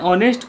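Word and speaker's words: honesty: है सातवां number an ऑनेस्ट person पज़ेस अ लॉट ऑफ़ ऑनेस्टी। एच ओ एन ई एस टी वाई। इसका हो गया ऑनेस्टी। ऑनेस्टी मतलब ईमानदारी। इसको ऑनेस्टी बोलते हैं। H silent.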